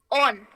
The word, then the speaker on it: on: Sound की तरफ, और वो है ओ, शॉर्ट, पॉट। देखिए मैं कैसे बात कर रही हूँ, ओ, short, pot, फॉक्स, ऑन। ऑन से अच्छा एग्जाम्पल कोई नहीं हो सकता क्योंकि मैं इसमें कहती हूँ ओ, ऑन, फ्रॉम। तो ये है ओ, यानी कि ओ, इसको कहते हैं ओ, शॉर्ट, ऑन। तो मैं अपना मुंह थोड़ा लंबा करके खोलती हूं, तब मैं बोलती हूं ऑन।